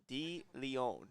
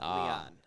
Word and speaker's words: DeLeon: I believe his name is pronounced Kyle DeLeon, not Leon. Leon.